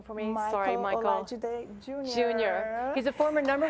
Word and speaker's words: Olajide: Can you pronounce his name for me? Michael Olajide Jr.